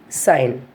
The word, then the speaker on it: sign: The spelling of the sign is S-I-G-N, but here we are not pronouncing the letter G, just we are saying sign.